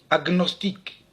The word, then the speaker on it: agnostique: Dans tous ces mots, le G et le N se prononcent séparément, alors qu'en général, le GN se prononce comme dans agneau, comme dans igname, ou encore ignorer. On prononce donc pugnace, stagner, gnome, agnostique, magna.